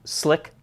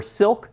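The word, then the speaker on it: Slik: have I also have some slick or silk tripods depending on how you want to pronounce it I've always known them as slick I have some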